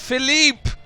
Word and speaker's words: Philippe: It's pronounced Philippe.